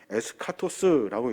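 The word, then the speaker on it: ἔσχατος: 신약은 종말을 어떻게 설명하냐면 헬라어로 에스카토스라고 읽는데 그 에스카토스는 마지막 날을 가리켜요.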